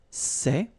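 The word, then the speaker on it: ces: the plural form so masculine plural it would be say okay and then feminine plural good news it's the same so we've got one form here sir and the option set when you've got a noun starting with a vowel after and then set feminine form and for the plural you've got only one form okay and it's say okay remember open Say Say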